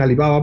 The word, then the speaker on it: Alibaba: otras empresas alibaba bueno Ellos dicen alibaba porque lo pronuncian ya no en vez de pronunciarlo con el acento al final como decimos nosotros alibaba pero pero gigantesca o